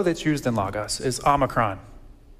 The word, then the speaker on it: omicron: Our first, the O that's used in Logos is Omicron. Omicron, little O, short O. So if you're a reading teacher, something like that, short O sounds. We all know them, hop, stop, mop, short O.